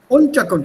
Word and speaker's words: Unterkunft: Unterkunft. The stress is on the first one.